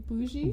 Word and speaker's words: bougie: And the first thing she told us is it's not bug-eye, Yeah. it's bougie.